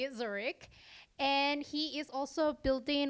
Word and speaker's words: Zurich: I finally learned how to say it, Zurich.